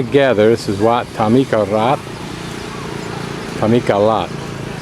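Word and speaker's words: Thammikarat: this is wat tamik Tamika lat the r is pronounced as an L Tomy kalad three girls riding on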